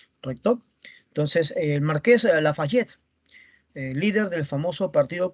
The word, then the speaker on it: Lafayette: mi tío el marqués lafayette se escribe la falla t se pronuncia lafayette como la burguesía es